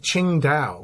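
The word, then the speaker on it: Qingdao: his orchestra specifically was in the city of Ching da where the beer comes from Singa beer yeah comes from the city of Ching da is the way they pronounce it and it's one of the most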